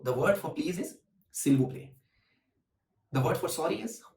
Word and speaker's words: s'il vous plaît: And the word for please is s'il vous plaît. So the word for please is s'il vous plaît.